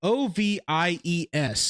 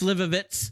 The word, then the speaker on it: Slivovitz: I don't know how to pronounce it. Slivovies. That's Slivovitz.